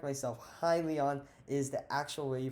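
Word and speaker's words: Hyliion: next one i want to talk about is helion right highly on i always need to correct myself highly on is the actual way you pronounce it from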